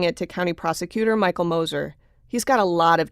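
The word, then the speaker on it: Gmoser: Moser, that's spelled G-M-O-S-E-R, but the G is silent, was one of two attorneys back in 1978 who tried Bob Young.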